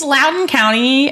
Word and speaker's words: Loudoun County: clearly it smelled like it shouldn't be pronounced like that it does it's an l-o-u-d-o-u-n so it's the same OU yeah it's Loudoun County um I think I